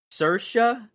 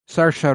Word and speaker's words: Saoirse: Saoirse. S. She's extremely Irish. Saoirse Ronan. Irish. Wow, Saoirse. Saoirse Ronan. I would never have guessed that in 5 million years. I've always just said Swartzy.